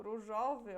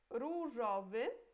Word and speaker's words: różowy: Não é różowy ou różowy, não. Primeira coisa é que não é O, não, é U, é a letra U, ok? Em polonês tem som de U. E a segunda, que é só uma letra, não tem acento. Então, a gente não pronuncia różowy e nem różowy, é różowy, ok?